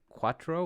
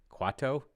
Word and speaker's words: Quato: Quattro? There you go. I think I'm going to say that that's pronounced Quato. Quato? Yeah, whatever.